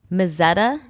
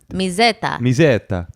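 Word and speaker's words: Mezzetta: Are we pronouncing that correctly? You're the Italian one. Call your dad. Well, Mazzetta? Mizzetta.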